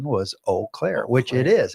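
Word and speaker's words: Eau Claire: typewriter uh and it said that the proper pronunciation was O Clair which it is it's French it's like Farm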